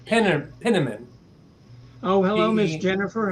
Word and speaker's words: Penniman: pronouncing it. Fetterman, Richard Pennerman. Penniman.